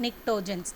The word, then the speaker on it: pnictogens: And 15th group elements, which are called nitrogen family, and they are called as pnictogens, P is silent, pnictogens.